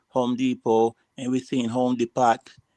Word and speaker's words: Depot: Oh, the T is silent.